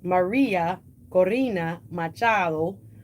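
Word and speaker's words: María Corina Machado: Maria Corina Machado.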